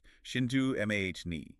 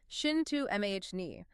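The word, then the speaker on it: Cintamani: Cintammani, pronounced shintu mahhi, right? Shintu mahne.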